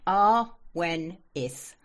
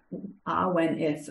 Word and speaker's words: Awenydd: Awenydd? Right. Awenydd. Awenydd. Oh, I completely didn't have that. It's Welsh, which is the old British language. So double D is sounded like TH.